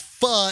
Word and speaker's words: pho: I mean, we just did a pho because pho is the Vietnamese noodle. It's spelled PHO, but it's pronounced pho.